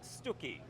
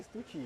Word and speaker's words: Stucchi: how to say this, is it Stucchi or Stucchi? How do you say it? Stucchi. Stucchi. Great Italian family name it is. The Stucchi family. The Stucchi, Yeah. because I always say Stucci, yeah, I don't Yeah, know why, yeah.